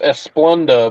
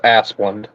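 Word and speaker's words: Asplundh: pronounce it Aspen asplund the H at the end of the name is silent people think it's esplunda but it's not it's just asplund it's it sounds exactly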